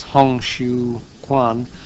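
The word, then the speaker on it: 洪秀全: founder of that movement, whose name I think is pronounced as Hong Xiu Quan, was clearly intended a worldly kingdom.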